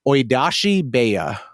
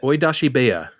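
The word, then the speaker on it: 追い出し部屋: and I'm going to give a shot at pronouncing this, and Andre can tell me why I'm wrong, Oidashi Beya. Pretty good. Okay. How would you have said it? Pretty much like that. Oidashi Beya.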